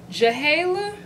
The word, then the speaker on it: JHALAY: So I have it in the style JHALAY. I don't know if the J is silent, but it's J-H-A-L-A-Y. JHALAY.